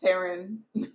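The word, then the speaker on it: Tairn: Tarn Taran will be a picture from uh it's No, it's Taran. That's literally how the whole Phandom pronounces it. And Rebecca Yaros pronounces it.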